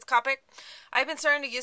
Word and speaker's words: Copic: use the Copic markers it might be pronounced Copic but I think it's Copic I've been starting to